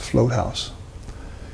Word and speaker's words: Vlothuis: The artist I'm talking to you about that I followed, Johannes Floathaus, his last name is spelled VLOTHUIS, but it's pronounced Floathaus.